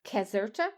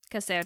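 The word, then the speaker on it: Caserta: the Royal Palace of Kazerta. So C is a hard C. C A S E R T A which is north of Naples Casera and that that beautiful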